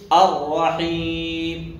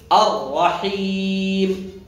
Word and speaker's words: الرحيم: إيه، بسم الله الرحمن الرحيم، نفس الشيء، الرحيم، كسر مليح، كسر جيدا، لأنه غالب المبتدئين يستصحب الغنة في المد فيقول الرحيم، الرحيم، حيم، هنا استصحب الغنة، يجب أن تخلص الغنة من المد فتقول الرحيم، الرحيم، اكسر جيدا.